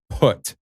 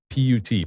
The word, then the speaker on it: put: why can't he say put p-u-t put whenever whenever i'm not saying it right now whenever he says put he says it with a b instead of a p i've noticed this for